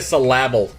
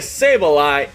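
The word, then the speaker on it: Sableye: a mega s wow i always say mega syllable what's wrong with me mega sable eye and tyranitar and it's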